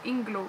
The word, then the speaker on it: Inglot: c'est je sais pas il en a qui prononcent inglo donc Inglot donc moi je dis Inglot puis c'est ça donc